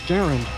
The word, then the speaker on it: Garand: I thrown away Garand I'd like to pronounce a Garand I know it's Garand but I pronounce a you say Karen yes spin what's a